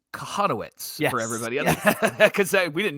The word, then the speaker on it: Kochanowicz: I'll just go ahead and text him it's pronounced kahanowitz for everybody cuz we didn't know it first